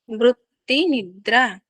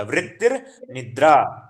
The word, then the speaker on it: वृत्तिर्निद्रा: वृत्तिर्निद्रा, रा का उच्चारण भी कीजिएगा, वृत्तिर्निद्रा। वृत्ति वृत्ति निद्रा। हाँ, वृत्तिर ता के बाद जो आएगा ना वो रा आएगा आपका, जो ना के ऊपर है ना रा, वो आएगा वृत्तिर निद्रा।